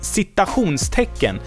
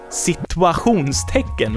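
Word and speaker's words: citationstecken: of funny to me the word is Sita hoons taken which means quotation mark and a lot of people a lot of sweets not only children whereas I don't think children even knows what this is they say sequence taken which would means the situation mark instead and I get it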